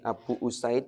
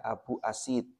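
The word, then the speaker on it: أبو أسيد: Jangan dibaca kalau ini Abu usaid Jangan dibaca Abu asid Syekh Sudais Jangan dibaca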